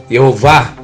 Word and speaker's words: Jeová: E se ler do jeito que está ali, cada consoante com som de vogal vai dar a pronúncia Jeová, e não Javé, nunca Javé.